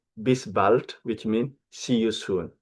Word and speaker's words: bis bald: And then you have this expression, bis bald, not bis bald. I repeat again, bis bald, which means see you soon, all right?